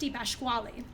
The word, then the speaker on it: DiPasquale: Yes, and I think it was probably my great grandfather if I'm correct on this, Dad, that our last name is from Italy, pronounced DiPasquale.